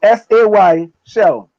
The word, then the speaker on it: Seychelles: So SAY shell.